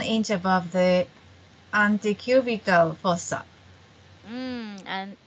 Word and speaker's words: antecubital: Wrap the cuff around the upper arm with the cuff's lower edge, 1 inch above the antecubital fossa. And anticubical Antecubital anticubital.